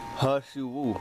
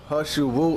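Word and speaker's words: 何首乌: Ha Shu Wu, pronounced Ha, similar to English Ha, but not as open.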